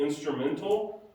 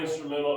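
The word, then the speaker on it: Instrumentl: at New Life called Instrumental, although it's spelled weird. You know, Instrumental has T-A-L at the end, take the A out, like instrumental without the A at the end. So Instrumental. That makes it expensive.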